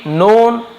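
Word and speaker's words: known: होते गए ही बिम नोन as Vedavyasa ही बिम नोन वो जाने जाने लगे तो हम बिम नोन बोलते हैं यहां पर भी के साइलेंट है एस यानी के रूप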